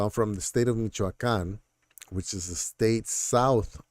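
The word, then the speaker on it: Michoacán: and raised in Michoacan so it's Michoacan uh it does sound like Michigan and a lot of times I use Michigan as a reference so they're like just think about Michigan and then when you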